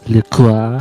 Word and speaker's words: LaCroix: I switched from LaCroix to a Polar, by the way. So It's pronounced Le Croix. La Croix.